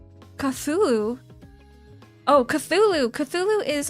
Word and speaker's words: Cthulhu: Call of Cthulhu.